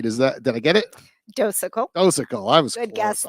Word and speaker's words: Docekal: I think I might have pronounced that somewhat right. Did I get it? Docekal.